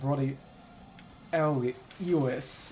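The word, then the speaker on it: Bloody Helice: like a detective story name Ry Ry so bloody Helix which is actually pronounced bloody Elis if I recall correctly Spa okay really arterio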